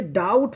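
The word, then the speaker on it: doubt: तो देखिए डाउट पढ़ते हैं। ये बी जो है ना साइलेंट यहां पे है। ठीक है? डाउट इसमें बी बी का उच्चारण हो ही नहीं रहा है।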